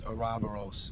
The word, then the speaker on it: Oroboros: The Greek pronunciation of the name is OROBOROS.